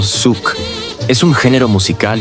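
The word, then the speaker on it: Xuc: Origen del shuk miguuño, el shuk, pronunciado suc.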